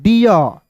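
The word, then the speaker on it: deer: के बीच में तो इसे सर हम लोग डर पढ़ेंगे क्या देखिए डर नहीं पढ़ेंगे दोस्तों। ठीक है ना? इसे पढ़ेंगे दोस्तों डियर।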